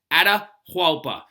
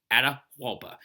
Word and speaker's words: Atahualpa: know who he is his his name is ada huapa and the way you spell that is a t a h wait a t a h a u l p a atahualpa and so what we're gonna do right now